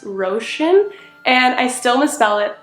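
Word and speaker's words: Róisín: o i s i n which I would pronounce as royen but it's actually pronounced ran and I still misspell it all the time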